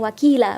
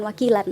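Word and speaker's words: وكيلا: Jadi dibacanya wakila bukan wakilan ya. Panjangnya 2 harokat.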